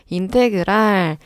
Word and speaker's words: 인테그랄: 이렇게 요렇게 생긴 기호인데 얘를 읽을 때는 임태그랄이라고 읽어주면 돼요 적분이 영어로 인테그랄이거든요 인테그랄 EX DX요 의미가 뭐냐면